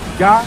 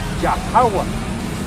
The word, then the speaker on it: Yahweh: nombre del Padre, Yah, que se tiene que pronunciar, Yahweh, Yahweh, con H al final, Yahweh, es el nombre del Padre, ese es el nombre del Hijo, Yahweh Shai, el Salvador.